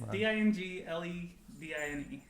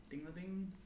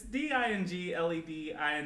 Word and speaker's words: Dingledine: It's Dingledine. Dingladine? Dinglading? I like Dinglading. We're gonna call him Dinglading. I'm just gonna keep all this in here. I was trying to figure it out. Just gonna Roger Dinglading. Just gonna butcher the name. Yeah. Yeah. Roger Dinglading. It's Dingledine for anyone interested.